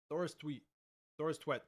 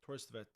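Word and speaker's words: Thorstvedt: Oh, so it's the W is kind of like a V sounding, like Torstvedt. Yo. This just pronounced in Norwegian. Torstvedt.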